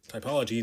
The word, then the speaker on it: typology: about uh taipal typology I have to make sure I'm saying it right typology not typography um I've always wanted to